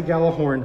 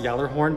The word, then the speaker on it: Gjallarhorn: have to slide the gala horn forward it's pronounced yellow horn but if you're a